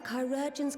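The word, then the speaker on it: chirurgeons: assured he will receive the finest care our chirogens can provide on that you have my word so that's how you pronounce that word now i will share with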